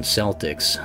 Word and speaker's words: Celtics: certainly the bond of Boston fans like to pronounce it as the Boston Celtics and not the Boston Celtx but actually a you